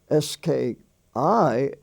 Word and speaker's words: ski: dry fly sky s-k-y s-k-i is pronounced ski you know he went